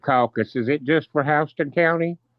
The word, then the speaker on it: Houston: Um, actually our one thing that our county is actually pronounced hon. All right, I shall. Thank you. Yeah, Hston County.